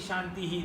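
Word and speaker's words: शान्तिः: That means only the last Shanti you are using that HI. The first Shanti also has to be Shantihi. Second Shanti also Shantihi. Third also Shantihi. Yes, you can prolong the third one, no problem. But at least pronounce Om Shantihi, Shantihi, Shantihi. No problem. Make the 2 dots in all 3.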